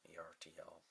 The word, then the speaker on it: Ertl: And strangely, Ertl puts them on, or however you pronounce the name, E-R-T-L. Ertl, just sounds like it.